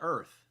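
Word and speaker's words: Oerth: pronounce the planet because I call it earth like the O is silent ah because that's the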